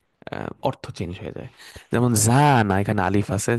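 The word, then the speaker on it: زنا: আর যখন জিনা বলতেছেন, টানটা থাকতেছে না মাঝখানে, তখন এটা হয়ে যায় ব্যভিচার।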